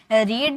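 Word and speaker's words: read: First form में हम इसे रीड बोलते हैं।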